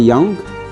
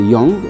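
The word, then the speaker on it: Yong: Young, comme vous entendez, parfois il y a ceux qui peuvent prononcer comme en anglais Young, mais sinon c'est Young en chinois.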